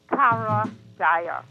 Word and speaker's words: Karajaya: But that's the correct name, Karajaya. I never heard it pronounced so well and correctly in my entire life, other than myself.